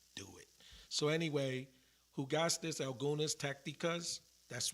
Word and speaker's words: jugaste: So jugaste is like more of a H, like a jugaste, right?